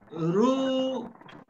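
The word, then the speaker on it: רוּחַ: So, ruach. Pag ito ay ginanito ko, magkakamali ko. For example, ginawa kong, imbis sa patak, ginawa ko siyang comments. Does somebody please pronounce this? Will somebody please pronounce this? Ru-wa.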